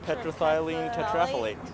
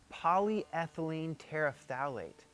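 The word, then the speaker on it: polyethylene terephthalate: of polymer that's not an easy word to pronounce. Polyline polythylene tetraet tetrathylene tetrailate polyethylene terafalate.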